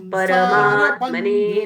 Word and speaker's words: परमात्मने: और जैसे ही पढ़ते हैं ना परमात्मने, ये इसको थोड़ा सुधारना है। परमात्मने नमः, र पूर्ण बोलिएगा।